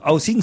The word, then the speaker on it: Housing: Non, housing, c'est... peut-être je prononce mal. C'est comme house. Housing.